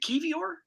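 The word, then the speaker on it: Kiwior: exact key is it kevior is that how it's pronounced key I know it's like k-i-w-i-o-r I think the W is pronounced like a V it's it's polish like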